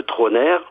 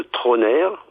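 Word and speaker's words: Trauner: Sinon, sur votre téléphone, vous tapez sous les lumières de Troner. Alors, sous les lumières parce que c'est les lumières du cinéma. Donc vous tapez sous les lumières de Troner.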